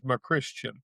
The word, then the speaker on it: McCuistian: Everybody that has the last name spelled the way I do that I've ever met says McQuiston. No R in there, but that's how it's said.